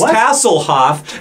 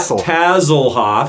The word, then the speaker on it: Tasselhoff: Because his name is Tasselhoff, not Tazzlehoff. I like Taz. So it should be Tass.